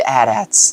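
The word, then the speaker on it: AT-AT: and the adats now some of you may say atat no that's not the proper pronunciation of it over the years it's been addressed as Adat even in the movies or shows I can't remember which one it could be both but yeah those two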